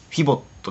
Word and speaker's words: FIVOT: ど、 FIVOT って書いてフィボットですかね。フィボットが提携して作られ